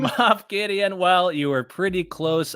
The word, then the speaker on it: Moff Gideon: Who is Muff Gideon? Moff Gideon.